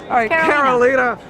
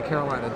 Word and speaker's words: Karolina: gonna do this again I said it right the first time it's okay I said all right Karolina yeah you know like the thing is like I'm sitting there saying don't say Carolina don't say no I